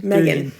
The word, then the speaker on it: M3GAN: it it's called Megan Megan Megan yeah Megan Megan that's how it's pronounced yeah it's proned my game yeah um